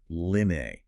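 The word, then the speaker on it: 柳: The Chinese word for willow is linne. Phonetically, this sounds almost identical to the word meaning to stay or to keep.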